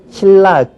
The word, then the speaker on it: 신라: 쓸 때는 니은에 니은받침에 리을이 연결돼요. 이런 것은 우리 한국 사람은 이런 발음을 아주 싫어해요. 그래서 누가 가르쳐 주지 않더라도 자연스럽게 어떻게 발음하느냐? 신라. 그렇게 발음하죠.